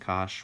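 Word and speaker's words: cosh: hyperbolic sine hyperbolic cosine this pronounce some cinch and Kash whatever um and so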